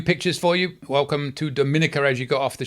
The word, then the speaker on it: Dominica: all right there you go Dominica and it's pronounced Dominica not Dominica as Dominican Republic is Dominica uh again I